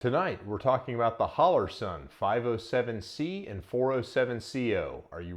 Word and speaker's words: Holosun: But before we go any further, you might have noticed that I'm saying Holosun and not Holosun. It's because it's a weird name and people mispronounce it in videos all the time.